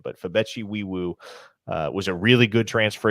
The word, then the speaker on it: Nwaiwu: Right guard Fabichi Wiwu is how you pronounce his name.